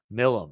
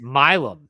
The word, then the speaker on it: Milam: Go ahead, talk about Wyatt Millam, I think is how you say his name. Yeah, Wyatt Millam is sorry, it's Milam. It's Milam.